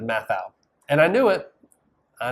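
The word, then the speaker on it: Matthau: this week it was I said Bad News Bears Walter Matthew instead of math out and I knew it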